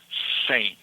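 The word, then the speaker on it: cem: Sane.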